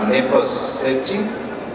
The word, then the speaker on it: Neposedi: You sang as a child in a group called, I hope I pronounce it right, Neposedi? Yes, you were right.